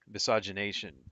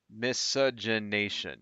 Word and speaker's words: miscegenation: This is the court case that got rid of misogynation, or how do you miscegenation law? Am I pronouncing that right?